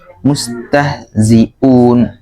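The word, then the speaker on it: مستهزئون: Setelah zi kemudian seperti terdengar huruf ain ya. Coba diganti huruf a biasa, huruf hamzah. Mustahzi'un gitu ya.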